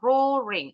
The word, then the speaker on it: roaring: Ini bacanya roaring. A-nya nggak bunyi.